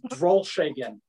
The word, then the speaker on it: Drolshagen: pronouncing the name properly absolutely it's drawl shakin and it is a very complex name it took me 40 years to learn how to say it okay again yes okay